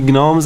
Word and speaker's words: gnome: gnome i can't see gnomes anymore the g is silent g silent it's got gnome i'll call it what